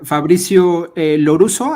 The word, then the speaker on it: Fabrizio Lorusso: ¿Qué tal, Fabricio Loruso? ¿Así se pronuncia? Sí, así es.